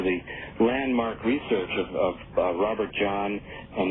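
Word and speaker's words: Jahn: landmark research of Robert John, and that's spelled J-A-H-N, Robert John, and and Brenda Dunn and their colleagues at Princeton University.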